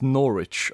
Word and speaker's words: Norwich: It's pronounced Norwich, okay.